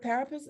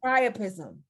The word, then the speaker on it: priapism: Parapism. I can't even say it. Is it parapism? Am I saying it right? Priopism. Priapism. Thank you.